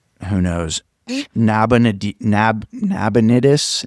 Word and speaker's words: Nabonidus: There is a king and his name is I want to make sure I pronounce it right. Who knows? Nabon Nab Nabonidus. Nabonitus.